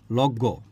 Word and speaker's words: লগ্ন: এটা উচ্চারণের বিষয় তো বলছে যে লগ্ন হ্যাঁ লগ্ন থেকে লগ্ঞ তাইতো আচ্ছা এখন দেখেন